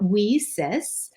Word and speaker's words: WiCyS: acronym lisa's w-i-c-y-s and we pronounce that we cis like we sisters because we are a cyber sisterhood so our mission is